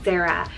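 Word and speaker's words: Zera: A fresh new idea here is the name Zara, spelled Z-E-R-A, Zara.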